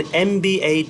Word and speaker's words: MBA: An MBA degree, an MBA degree. In here, M is pronounced like M, MBA degree. So it has a vowel sound.